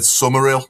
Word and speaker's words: Summerill: He corrected that person and said Summerill, so you're not allowed to pronounce the H. No. Summerill all the way through.